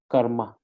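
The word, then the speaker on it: སྐར་མ: So sa, sakataka, sakatakarakar, sa, sakataka, sakatakarakar, sa, sakataka, sakatakarakar, ma, karma. So this is karma. So the first syllable is kar, sakataka, rakar, and the second syllable is ma.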